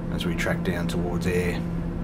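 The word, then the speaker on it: Ayr: we track down towards air air spelt with a y if it was spelt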